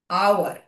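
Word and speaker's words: hour: এইটা বলো, কি উচ্চারণ হয় এটার? হাওয়ার হয়? হাওয়ার হয় না, তাই না? কি হয়? আওয়ার।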